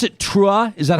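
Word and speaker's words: T'ruah: rabbi jill jacobs executive director of do you pronounce it true is that how you say it you got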